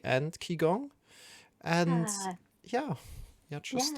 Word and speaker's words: Qigong: And then there's Qigong, which is pronounced Qigong.